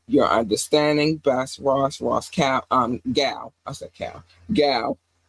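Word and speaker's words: Gow: Gal, because it's spelled like cow, but with a G.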